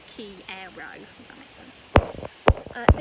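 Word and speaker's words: quiero: it says like um i'll make sure i put how it sounds in english so you don't have to try and pronounce the q-u-i-e-r-o because it's there for you like key aero if that makes sense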